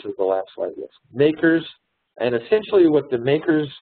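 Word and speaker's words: MACRS: And so the asset depreciation range is what they use when they calculate the makers table, modified accelerated cost recovery system, makers, that's the way they pronounce that.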